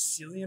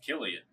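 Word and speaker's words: Cillian: actor who plays him I mispronounced his name I said it was Celia Murphy it is actually Gillian Murphy Killian yeah that's pretty cool man yeah I know right like uh I don't know the K's in the Seas man like they throw me off you know like sometimes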